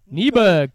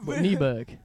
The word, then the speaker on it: Nyberg: Nyberg, similar to Norberg. So Nyberg.